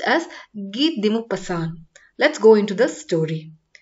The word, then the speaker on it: Guy de Maupassant: should be pronounced as ghee dimu pasan it's a french name it should not be pronounced as gai di mopassan it should be pronounced as git dimu pasan let's go into the